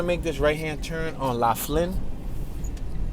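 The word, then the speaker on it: Laflin: All right, I'm going to make this right-hand turn on La Flynne. It's spelled L-A Flynn.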